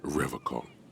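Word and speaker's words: Revachol: to stay strong for Revol he pronounces Revol with a hard K unlike other people I like to pronounce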